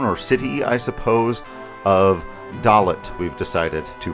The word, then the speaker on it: Dollet: When last we left our heroes, they were making a dramatic landing at the town or city, I suppose, of Dalot. we've decided to pronounce it.